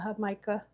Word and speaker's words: Jamaica: It's spelled Jamaica but they call it her mica.